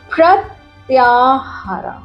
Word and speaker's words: प्रत्याहार: इस प्रोसेस को बोलते हैं प्रत्याहार। इसको बोलते हैं, इस प्रोसेस को बोला जाता है प्रत्याहार। Okay, this is the way to pronounce it.